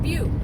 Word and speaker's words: butte: what they are gorgeous and beautiful Gorge and be it's fun at least I didn't you know no I did I said what's this butt and they were like be and I was